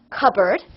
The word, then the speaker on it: cupboard: that one is spelled this is how we pronounce it cupboard yes c u p b o a r